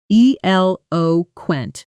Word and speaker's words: eloquent: The stress falls on the first syllable, eloquent. And notice how quickly native speakers move through the middle syllables when talking fast. Eloquent.